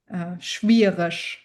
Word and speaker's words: schwierig: Okay, so EG will always be pronounced ush. Schwierig, difficult, schwierig. Ush. EG at the end is ush.